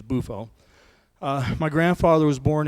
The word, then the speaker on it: Buffo: is my grandfather Dominic buffo or buffo it doesn't matter the Italian pronunciation is buffo uh my grandfather was